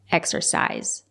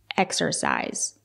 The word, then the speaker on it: exercise: to exercis my creativity it's not correct to say exercise it's pronounced exercise use the long I exercise it can be a